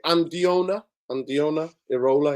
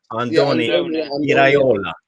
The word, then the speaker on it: Andoni Iraola: Is it Andiona Irola? His name is their coach. He is Andoni Andoni Iraola.